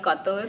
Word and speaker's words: Qatar: Is it Qatar or say it Qatar? So I think it's called Qatar. Qatar. Okay. Yeah, but a lot of people say it Qatar. Some people say it Qatar.